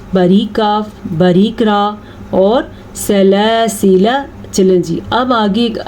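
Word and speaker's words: سَلَاسِلَا: اس گول دائرے کا مطلب ہے کہ یہ الف نہیں پڑھا جاتا. جیسا کہ ہم اس کو سلاسلہ نہیں پڑھیں گے لیکن ہم اس کو پڑھیں گے سلاسلہ، ٹھیک ہے. یہ الف بالکل بھی نہیں پڑھا جائے گا.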